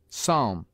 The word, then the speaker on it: Psalm: Germans confound with B p is sometimes mute as in Psalm and between M and